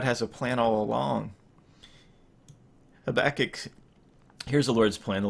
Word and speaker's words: Habakkuk: the whole book of Habakkuk, or Habakkuk, if you like to pronounce that in Hebrew. I think that's actually a chet also, so that might be Habakkuk, I think that is.